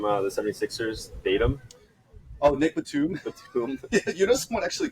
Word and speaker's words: Batum: and they were like did you just pronounce it btim I was like oh oh sorry sir I forgot to pronounce it with the first song yeah it's it's yeah